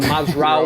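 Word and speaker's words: Mazraoui: mazra you know that I absolutely love saying mazra so we will talk about ma that's how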